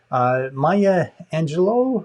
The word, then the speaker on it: Maya Angelou: Maya Angelou, I think is how she pronounces her name, is the person that is attributed to more than anyone else.